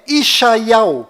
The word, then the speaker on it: ישעיהו: Bom, agora ficou bem claro que a verdadeira pronúncia do nome de Isaías em hebraico legítimo lá em Israel é Ishaial.